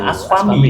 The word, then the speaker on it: ASPAMI: Ai adalah Ketua DPD ASPAMI, Aspami, gitu saya bacanya. Aspami ya.